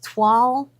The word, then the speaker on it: toile: Yeah, and you wouldn't because it's Toile. You And would it's think French. It's toil. Yeah, Yeah, it's toile. French, isn't it? Toile. Like it's supposed to have a W in it.